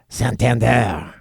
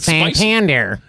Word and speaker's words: Santander: easy fit I like the way how uh Santander it's supposed to be pronounced instead of the way I said it sander santand sounds like a mysterious character in a